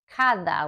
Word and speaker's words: cada: The D sounds more like the TH when it's in between vowels.